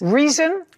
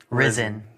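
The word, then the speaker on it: Rizin: Reason. Ryzen. Ryzen. Spell it.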